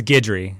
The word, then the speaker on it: Guidry: It's Guidry.